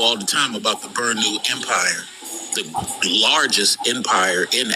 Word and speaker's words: Bornu: I don't need you to spell it. I need you to pronounce it. Burnu. Oh, Burnu. Okay.